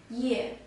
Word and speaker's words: 夜: this character it is pronounced as year yeah it means night and